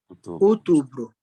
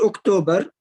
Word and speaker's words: outubro: Outubro. We are currently in outubro. Not October. Outubro.